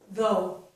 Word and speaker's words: though: All right, to continue, I forgot to say, in these 4 words, we do not pronounce the letters GH. So they are silent.